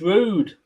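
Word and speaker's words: Roord: oh God Ro it's rude yeah it's pronounced rude with uh the Dutch accent looks like rude to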